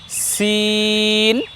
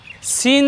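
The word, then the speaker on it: سين: করছি দেখুন আমরা বলছি সিন সিন যখন আমি উচ্চারণ করছি তখন আমার ঠোঁট কিন্তু বাঁকা হচ্ছে না আর এরপরে যখন শিন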